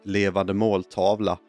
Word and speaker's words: Levande måltavla: The Swedish title, by the way, is pronounced Levande måltavla, which translated means living target.